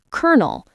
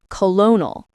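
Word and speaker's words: colonel: For example, kernel is pronounced like kernel, not colonal.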